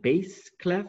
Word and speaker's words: bass clef: a bass clef and we think of the word bass like the bass in our radio very good okay that's